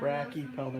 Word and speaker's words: Brachypelma: Brachypelma, not brachia.